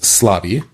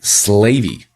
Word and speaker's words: Slavi: So even though I know my name is pronounced Slavi, okay, what's really interesting is the audio model when it tries to say that might make it sound like slavy.